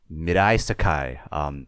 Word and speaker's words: Mirai Sekai: I will kick us off with my favorite EP, which is titled Mirai Sekai, in English, but that's the Japanese pronunciation because it is Japanese for future world.